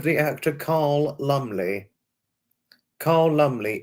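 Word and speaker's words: Lumbly: anybody's heard of the actor Carl Lumley car lumely l u m b l y lumely not uh not Joanna Lumley it's lumle spelled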